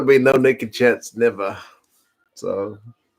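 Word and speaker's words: Niamh: like MacGyver was in the chat very cool pronounced Owen okay Irish names are tricky like I got Siobhan down Nev like the N I am H I'm getting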